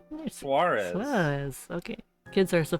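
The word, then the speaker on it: Suárez: Suarez.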